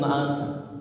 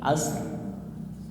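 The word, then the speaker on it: عشر: Walayalin asr. Lihat huruf sin qalqalah bukan bukan. Maka ro tipis walayalin asr. Ri tipis ya. Ada rnya ya asr. Tapi jangan as doang gitu.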